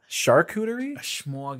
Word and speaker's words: charcuterie: it's the og charcuterie it is charcuterie like sharkeisha sharkesha how do you